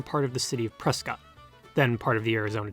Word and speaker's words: Prescott: of the city of prescott then part of the arizona territory or as gail garner pronounced it priskit gardner's father came to